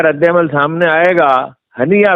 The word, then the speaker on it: ہنیہ: بھی ہیں۔ اب اسماعیل ہانیہ کا رد عمل سامنے آئے گا، ہنیہ ویسے صحیح تلفظ ہے، تو پتہ چلے گا